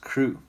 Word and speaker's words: CRW: work which is then shortened to crw but now it's pronounced crew and it's a lot of